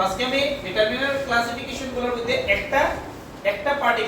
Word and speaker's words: determiner: এটা হলো ডিটারমিনার। একটা জিনিস মনে রাখিও, অনেকে স্টাইল করে উচ্চারণ করা দিয়া এটা কই ডিটারমাইনার, ডিটারমাইনার না, এটা হলো ডিটারমিনার, ডিটারমিনার।